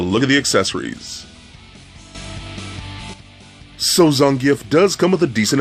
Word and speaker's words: Zangief: at the storm collectibles Zangief now I say Zangief not Zangief it's Zangief I hate when people mispronounce his name now I'm I'm just a